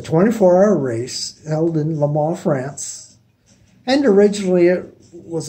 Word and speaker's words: Le Mans: it's going to be le man now you might see it's spelled lemons but it it's french so you really don't pronounce the n or the s at the end it's just le ma anyway le ma is